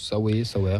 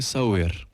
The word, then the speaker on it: Sauer: Mario Sauer, je pense Sauer. Alors, Sauer. d'après Google Trad, ça se dirait Sauer.